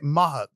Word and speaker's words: Mahat: Mahat.